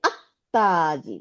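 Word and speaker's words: التاجر: এই তাজিরুকে আল দিলে আত্তাজিরু, আত্তাজিরু লামটা গিয়ে তার সাথে মিলে যাবে, মিলে গিয়ে তাটাকে সাদ্দা দিয়ে দেবে।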